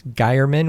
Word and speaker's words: Geierman: And if you ever are wondering how to say my name, I would just say it's Geierman, which rhymes with fireman.